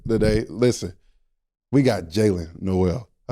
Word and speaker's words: Nowell: People do be like messing up the name. Like Noel, Noel. It's Noel. If you look at it, if it's spelled Noel.